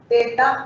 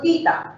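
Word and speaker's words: theta: El ángulo indistintamente se puede pronunciar teta o tita. Eso ya es indistinto. Hay gente que lo dice de la manera del profe, teta, otros lo dicen tita.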